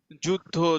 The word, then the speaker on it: যোদ্ধা: যুদ্ধ, যোদ্ধা। ঠিক আছে, এটা মনে হয় যেন জুজের মতো, কিন্তু জুজ হবে না, কারণ এখানে কি একটা ধ উচ্চারণ হচ্ছে, যোদ্ধা, যুদ্ধ, যোধন, যোধ।